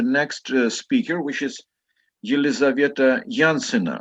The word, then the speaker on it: Yansina: And here we have the next speaker, which is Yelizaveta Yansina, right? How do I pronounce your name correctly? Yelizaveta. Yes, it can be pronounced like this also. How do you pronounce your name? Yanzina.